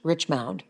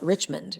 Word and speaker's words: Richmound: Because people always misspelled and mispronounced Richmound. They glance at it and call it Richmond, right?